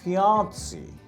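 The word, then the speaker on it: fiancée: বলি এরপরের শব্দটা কি ফিমেলের ক্ষেত্রে কি হবে ফিয়ানসি এফ আই এন সি ই ফিয়ান ফিয়ানসি person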